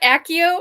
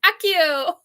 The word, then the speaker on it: Accio: of things um yeah isn't that accio I think that's how that's pronounced uh Donna just said I'm always doing a Harry Potter with Harry Potter saying Akio well wait a minute